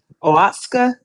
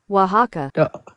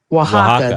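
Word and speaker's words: Oaxaca: Oatska. Oatsa. Not that orita. Which one is it? Oaxa. I can't pronounce that word.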